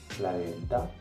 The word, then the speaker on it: verità: C'est-à-dire que si vous voyez un mot avec un accent grave, vous devez le prononcer en insistant sur la dernière syllabe. Par exemple, il caffè, la città, la virtù, la verità.